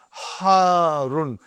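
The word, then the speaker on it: حارٌّ: Harun. Because the shadda is on ra. So you got to pronounce it properly.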